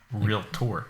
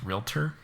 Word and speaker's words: realtor: you still real you so property's real tour did you know it's pronounced realtor no yeah what totally